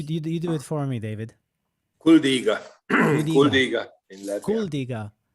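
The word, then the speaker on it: Kuldīga: a small town, which the name I cannot pronounce, in Kuldiga. Latvia. You do it for me, David. Kuldiga.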